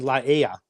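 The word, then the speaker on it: Laie: I've always been told that PCC is in Laia. Laia. Oh, that is what it is. Laia. That is what it is. Laia. Yeah. Dale was wrong.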